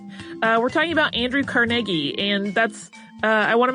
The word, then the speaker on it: Carnegie: go with carnegi because that sounds the closest to the way uh his family seems to pronounce it uh so I might